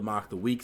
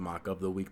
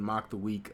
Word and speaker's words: Mock the Week: I'm still sorry that I pronounced it mock up the week the first time I saw it that was my mistake I did not know any better there was a